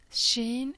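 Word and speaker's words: ش: is a normal s Sheen is pronounced as the S sound in she for example and again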